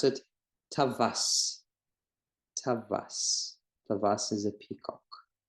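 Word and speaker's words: טווס: kamatz in this case, then we pronounce this vav like V in English. It's a consonant, it's not a vowel. And we pronounce it tavas.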